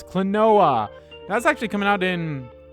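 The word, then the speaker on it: Klonoa: um oh cool yeah kaluna all right clinoa clanoa that's how you pronounce it it's clinoa that's actually coming out in on July 22nd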